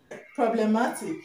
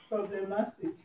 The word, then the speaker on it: problematic: Problematic, okay? Problematic. You're gonna stress the second syllable from the end, okay?